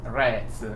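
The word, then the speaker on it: Jan Rots: me with his pronunciation Yan rots is that how you pronounce his name the pronunciation should be rats with the yeah and R A like apple R rats R and so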